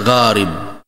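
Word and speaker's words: غارم: adalah jamak dari kata garim. K gim jadi jangan disamakan nanti dengan garin ya.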